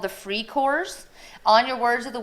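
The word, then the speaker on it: Freikorps: So it's going to step in are called the Free Corps. On your Words of the Week quiz, you will want how it is actually spelled in German, not the Free Corps, but that's how it's pronounced.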